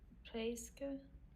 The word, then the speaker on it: presque: So the stress is where I have the yellow here. Presque 17 ans. Again, the stress is on this E followed by a consonant. So j'ai presque 17 ans. J'ai presque 17 ans. And we're not pronouncing the P. So the P is silent.